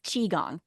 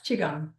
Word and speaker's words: Qigong: And first, I want to make sure I'm pronouncing that correctly. Chiong. That's correct. Yes. Chiong.